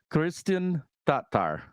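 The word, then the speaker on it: Kristin Tattar: as a commentator but when I hear her say her name that's what I hear and I am and for anyone that's that's mishearing me I am not adding an extra R in there I am not saying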